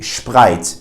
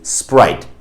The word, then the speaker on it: Sprite: foreign word, for instance, a brand like Sprite, you wouldn't say Sprite, you would say Sprite. But some Germans, especially the older generation, do pronounce it as Sprite, which sounds super funny and definitely incorrect.